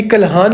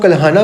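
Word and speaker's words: कल्हण: किसने लिखी है, ये कल्हान ने लिखी हुई है, कल्हान। कुछ लोग कल्हाना बोलते, कुछ लोग कल्हान बोलते, अपनी अपनी प्रोनाउंसिएशन से आप बात कर सकते हो।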